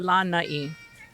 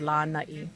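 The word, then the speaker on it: Lānaʻi: You're looking at Lanai. Lanai. Very important. Lanai. Yep. So you have your lanai, which is your Lanai, balcony yeah. or your veranda. Okay. And that is the island of Lanai.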